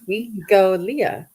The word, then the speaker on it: Wikolia: The Hawaiian name for Victoria is Wikolia, pronounced Wikolia.